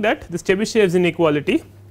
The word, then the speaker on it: Chebyshev: This Chebyshev is spelt in very different ways.